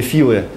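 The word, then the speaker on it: Philae: АПТ филы ну его как для русского языка проще филей называть Хотя правильное произношение филы и вот этот данный кадр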